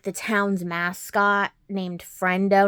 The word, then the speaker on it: Frendo: And they dress up like the town's mascot named Friendo. And I don't know how that's how you say his name or not. It's Frendo.